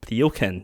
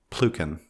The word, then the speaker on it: Pluken: Teach me again, one more time, how to say it. Pluken. Yeah. Why do you have a Y over there if you don't say it?